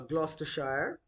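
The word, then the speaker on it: Gloucestershire: It is another county uh Glostershshire and uh the spelling is uh like this but it is in the southwest of England but it is pronounced as Glostershshire not as as Glausister Shire.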